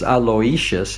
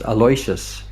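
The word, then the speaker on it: Aloysius: A lot of people think it's Aloishious and it's just Aloyas is the way he told me to pronounce it.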